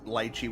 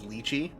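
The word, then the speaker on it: lychee: Pronounce litechi, which is the Cantonese pronunciation, but the viet is luchi.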